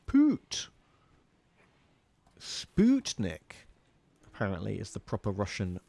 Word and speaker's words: Sputnik: know um also the put in sputnik is pronounced put sputnik apparently is the proper russian pronunciation of that